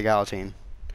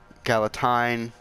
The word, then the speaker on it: galatine: gal teen right and I say gal teen I don't say calla tine I don't say guillotine now I don't say